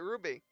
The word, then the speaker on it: RWBY: Called it RWBY.